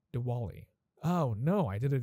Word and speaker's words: Diwali: is coming next week wait why did i just say diva like so americanized man that is that oh my god that hurts okay i'm gonna say it properly one more time diwali oh no i did